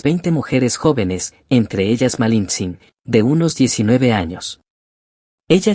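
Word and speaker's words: Malintzin: Bernal Díaz cuenta que los indígenas la llamaban malins un término de respeto que significa la de Malinali y los españoles, al no pronunciarlo bien la rebautizaron como malinche.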